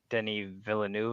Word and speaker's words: Denis Villeneuve: I'm probably pronouncing that wrong. I always do. No, I may be actually, you did it Canadian, right. but I still can't talk French Canadian. No, you were spot on. That's how I've heard it's supposed to be pronounced.